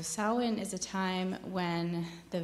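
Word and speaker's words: Samhain: and the Celtic tradition is called Sinn which is spelled s m ha a i n so sawin is a time when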